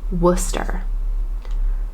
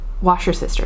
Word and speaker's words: Worcester: to say it correctly Worcester uh it's the home of Worcester sauce not washer sister sauce it's or uh Worchester Shire sauce it's Worcester wer um I had to learn that really quick um so